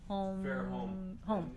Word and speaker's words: Fairholm: And Fairholm, is there an S at the end or is there not an S? What is just Fairholm? Fairholm.